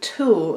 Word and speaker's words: tulle: This stuff is called tulle. That's spelled T-U-L-L-E.